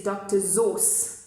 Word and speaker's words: Seuss: So this is the wonderful Dr. Seuss. I heard somebody saying that actually the way you pronounce it is Dr. Sauce, like tomato sauce.